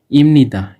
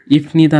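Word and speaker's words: 입니다: ইমনিদার উচ্চারণ ইফনিদা না হয়ে ইমনিদা হলো কেন? এখন দেখেন যে এখানে যেহেতু ভাচ্ছিম আছে, আমরা জানি যে ভাচ্ছিমের পরে ল আসলে বিয়োগটি প না হয়ে ময়ের মতো উচ্চারণ হয়।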